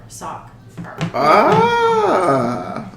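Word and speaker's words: Sockher: I'm soccer mom but it's not spelled soccer like soccer ball it's spelled so c k h e r sock ah okay I don't have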